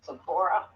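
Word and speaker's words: Zipporah: Well, anyway, so uh, Sephora, is that how you pronounce her name? Yeah, Sephora.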